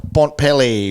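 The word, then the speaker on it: Bontempelli: Last week, McRae 138, Caleb Daniel 128, Bailey Smith 125, Bontpelli 123. Bontpelli. I take a syllable out, makes it quicker.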